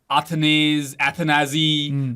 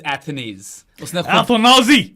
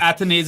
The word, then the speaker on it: Athanaze: a fan, and a lot of people have pronounced his names in different ways. Athanazi, मगर it is Athanaze. उसने खुद confirm किया हुआ है Ian Bishop को ही, ठीक है. Athanaz, बहुत चीजें सुनी है मैंने. Athanaze is the correct pronunciation.